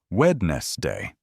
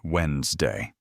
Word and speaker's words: Wednesday: For example, you might see the word Wednesday written down and think it's pronounced wedness day. But listening to native speakers teaches you that it's actually pronounced more like Wednesday.